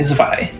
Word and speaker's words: zwei: Not Zwei, Zwei. The W makes a V sound in German.